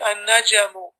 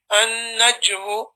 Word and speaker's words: النجم: But you have to be careful there to make sure that you don't put an unnecessary haraka or a vowel point or a movement on the letter more than is required. So it's a sukoon. So you say an-najmu, an-najmu ba'idun.